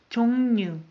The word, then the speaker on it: 종류: As you noticed, I pronounce R as N. 종류.